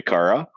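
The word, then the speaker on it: خرا: The actual Arabic word to it, and the like colloquial word would be khara, or if you were to pronounce it, we say kara, about.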